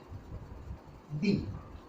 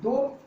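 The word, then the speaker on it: the: अब definite article केवल एक होता है, वो है दी। इसको हम दो तरह से उच्चारण करना पड़ता है।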